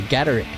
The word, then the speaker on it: Gatic: Have we been pronouncing your name correctly? Gatic. Oh, that's perfect. Beautiful.